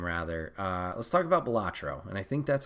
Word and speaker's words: Balatro: uh let's talk about batro and I think that's how you say it b a l a t r o balatro balatro I apologize for butchering it um but this